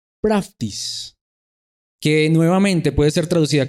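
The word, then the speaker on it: πραΰτης: verdad fruto del espíritu santo en griego se pronuncia practice que nuevamente puede ser traducida como humildad como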